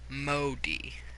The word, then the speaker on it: Modi: whatever culture it's from so the O is amplified by the I and the I says a special sound because it's on the end and in this culture I would make an e sound so Modi yeah I'm no literary